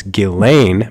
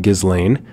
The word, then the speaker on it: Ghislaine: I've noticed that I've said her name wrong. It's Ghislaine Maxwell, not Ghislaine.